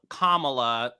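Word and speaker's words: Kamala: beautiful to see um kamla that's how you pronounce her name Heavenly I did say kamla didn't I you said camea but it's okay you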